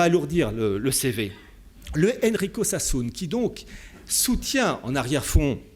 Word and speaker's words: Sassoon: Cet actionnaire, au service donc de Gian Roberto Casaleggio, s'appelle Enrico Sassoon. Je vous donne son nom, Sassoon, ça s'écrit S-A-2-S-2-O-N. Sassoon.